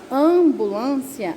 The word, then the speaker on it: ambulância: ambulância a gente fala ambulância mas não tem nós o m ele não é pronunciado então por isso que